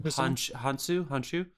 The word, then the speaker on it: Hounsou: But the Helen Mirren, Lucy Liu, and Djimon, how do you pronounce his last name? Hounsou.